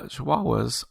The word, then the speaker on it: Chihuahua: are yeah sure uh chihuahuas are oh man i'm scrolling 32 on the list you know it's actually pronounced chihuahua chihuahuas are number 32